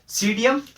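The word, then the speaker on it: Psidium: सीडी से गया मतलब सीडियम गुआजाओ, इसमें क्या है, पी साइलेंट रहता है ना, ये आप देख लेना, पी साइलेंट रहता है। सीडियम गुआजाओ इसका बोटेनिकल नेम है।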